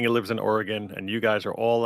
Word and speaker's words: Oregon: I could tell cuz you pronounce it correct. Most people on the East Coast call it Oregon and I'm like, "No, it's Oregon."